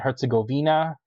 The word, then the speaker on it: Herzegovina: Yes, Bosnia and Herzegovina. That's how I pronounce it. Some people pronounce it Herzegovina.